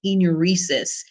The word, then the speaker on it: enuresis: most common cause of involuntary urination is is pronounced enuresis in elderly patients is it a neurological conditions